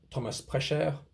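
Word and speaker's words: Prescher: Then you can see that on his website, Thomas Precher. Again, German name, so French pronunciation is pretty much how you want.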